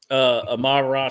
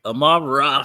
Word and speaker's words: Amon-Ra: Yeah, Amon-Ra St. Brown. I always think of you remember He-Man and Mum-Ra? Mum-Ra. So that's what I always think of when I say his name.